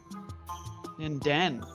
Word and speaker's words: Ninden: The emphasis is on the den. It's weird. Ninden.